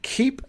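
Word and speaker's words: Keap: use a platform that's now called keep which is spelled k-e-a-p it used to be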